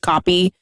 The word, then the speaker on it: compy: Um those Yeah, they call them copies which is actually spelled C O M P Y but when you hear it it's just copy compy is harder to say as you can hear me stumble over.